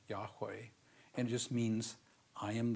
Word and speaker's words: Yahweh: Hebrew phrase so we we pronounce it probably correctly as Yahweh and just means i